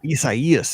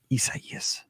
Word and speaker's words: Isaias: Isaias. It's 4 syllables because I couldn't say it forever. Isaias.